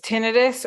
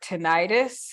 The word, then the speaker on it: tinnitus: There's two variations, which is tinnitus or tinnitus. In my opinion, either is acceptable. You can choose whichever you think sounds better.